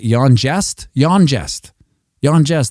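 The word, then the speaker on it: YonJ35T: It's easy. It's Y, which is kind of sounds like a J in some languages. And J35T, which, you could maybe say it's jest, if one may be so bold.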